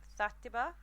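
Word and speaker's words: Xàtiva: like their underground, called Zatiba, which actually I think came from the Valencian word as well, which, because it's spelt very different to how I'm pronouncing it. It actually starts with an X.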